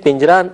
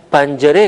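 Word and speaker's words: پنجره: اور یہ کھڑکی ہے۔ آپ نے دیکھا کہ میں نے اسے پنجرہ تلفظ نہیں کیا بلکہ پنجرے کہا ہے، تو آپ اس تلفظ کو ذہن میں رکھیں۔ ان معلم است آن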